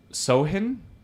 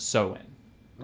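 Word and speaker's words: Samhain: they called it um sohin so sohin it's it's it's spelled funny so it's s-a-m-h-a-i-n but it's pronounced so in okay they see me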